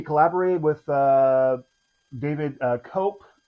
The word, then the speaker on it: Koepp: So Disclosure Day, he collaborated with uh David uh Koepp. Cope, I think, is how you pronounce it. I it's K-O-E-P-P.